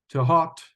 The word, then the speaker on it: Thoth: our Ibis God friend to hot I heard someone pronounce it one time or to hot he said that was how it's actually pronounced in Egypt I think that was